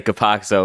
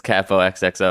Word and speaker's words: Capo XXO: I always say Capoxo when it's Capo XXO.